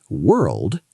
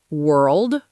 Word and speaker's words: world: It's the sound, like in her. Oh, so it's word, world, work.